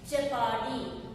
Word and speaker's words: jeopardy: Next, jeopardy. J-E-O-P-A-R-D-Y. Jeopardy. It should be pronounced as jeopardy.